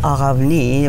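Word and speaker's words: Aghavny: my name got changed My baptismal name is Aravni, which is spelled A-G-H-A-V-N-Y, and mispronounced even in Bulgaria because it was so unusual and difficult.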